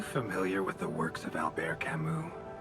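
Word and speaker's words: Albert Camus: Are you familiar with the works of Alber Camu? I would not have pronounced that Alber Camu. I would have pronounced that Albert Camas and completely butchered uh that pronunciation.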